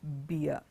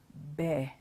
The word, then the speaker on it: bear: It's not beer. Beer is what you drink. This is a bear. Bear. It rhymes with the word B-A-R-E.